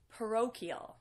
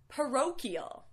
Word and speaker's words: parochial: this words difficult because you might not know what to do with the CH or where to put the stress the correct pronunciation is parochial and this means pertaining